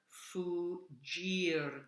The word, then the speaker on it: fuggir: Then in the next one, the double G is like a J sound. Per fuggir da crudo artiglio.